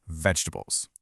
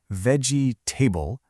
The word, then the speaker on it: vegetables: See, we don't really say veggie-table. That middle sound gets squished into a quick little sound, a schwa.